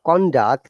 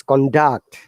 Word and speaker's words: conduct: asked you to read when it is upper to lower international conduct then it is a noun and white is the other round lower to upper intonation then it becomes a verb so it is conduct